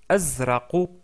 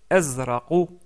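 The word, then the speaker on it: أزرق: couleur c'est le bleu on le prononce azra azra qui se termine avec une lettre que nous n'avons pas encore vu, mais vous pouvez prononcer la lettre Q en pour s'approcher de cette lettre là, mais c'est pas exactement le Q. Donc c'est plutôt azra et non pas que mais essayez de de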